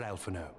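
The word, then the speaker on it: Alphinaud: Pray, do not be so hasty, Master Alfano. Lord Oroon. Oafon. Ah, so the H is silent.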